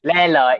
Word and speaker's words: Lê Lợi: like the lake gets its name from Emperor Leloy. La Leloy? I don't know how to say it like this one. Leloy. Emperor Leloy. Lê Lợi, yes, Lê Lợi, yes, correct.